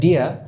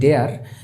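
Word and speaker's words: deer: আর পরেরটাতে দেখি দ্য ডিয়ার এট। আচ্ছা, এখানে আমি প্রোনাউন্সিয়েশনটা বলে রাখি, যেটাকে আমরা বলি ডেয়ার, এটা ব্রিটিশ প্রোনাউন্সিয়েশন হচ্ছে ডিয়া, আর ইউএস প্রোনাউন্সিয়েশন ওরা একটু আর উচ্চারণ করে, ওরা বলে ডিয়ার।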